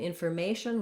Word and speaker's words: information: Again, in information, we stress on the may syllable. The letters FOR actually have this sound, so it's more like a fur.